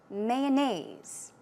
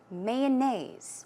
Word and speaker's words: mayonnaise: Mayonnaise. Mayonnaise or mayonnaise. I say mayonnaise. So, I put stress on the first syllable.